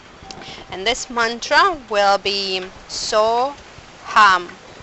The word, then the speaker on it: So Ham: So Ham. I am that. So we'll inhale. While we inhaling, we pronounce so. When we exhale, we pronounce hum.